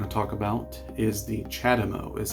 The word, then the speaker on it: CHAdeMO: And the next plug we're going to talk about is the CHAdeMO, is how it's pronounced.